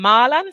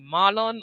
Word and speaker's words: Marlon: The audiobook calls him Marlan, so I wasn't sure if it was like a bad Jamaican accent. His name was actually Marlon.